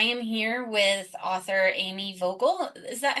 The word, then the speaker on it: Vogel: Hi everybody, welcome to the Books Brews Dogs Indie Author Spotlight podcast, and I am here with author Amy Vocal. Is that how you pronounce that?